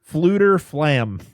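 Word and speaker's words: Fflewddur Fflam: Fluter Flam. I forgot you just the first F is silent.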